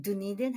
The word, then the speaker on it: Dunedin: No, I ended up in Dunedin. Is that how you say it? Oh, Dunedin?